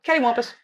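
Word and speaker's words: cattywampus: so Google that one caty Wampus spelled like cat good descrition Wampus it's a thing we say here so caty Wampus you might even recognize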